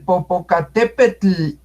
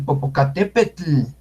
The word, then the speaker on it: Popocatépetl: La TL, ¿saben cómo se pronuncia la TL? Entonces, vean ustedes cómo los, ¿cómo se llama la gente que sale en televisión hablando? Los locutores. Los locutores cuando dicen, el Popocatépetl hizo erupción, el Popocatépetl.